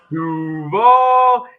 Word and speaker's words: Duval: Liam Cohen did not know how to pronounce Duvall. He had no idea. Duval. Duval. Duval. He emphasized the wrong syllable.